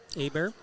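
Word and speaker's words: Hebert: how you pronounce it AAR yeah the t is silent at the end we just talk about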